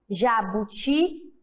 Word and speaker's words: jabuti: Quando eu falo jabuti, se eu gritasse o jabuti, como ficaria? Jabuti! Qual foi o mais forte? Qual que eu estiquei mais? O ti.